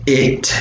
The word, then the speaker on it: it: It's it, yes, it's not pronounced eat, it's pronounced it. It's a short e.